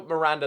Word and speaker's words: Miranda: think I've said that no Miranda that is how you say his name um so yeah that's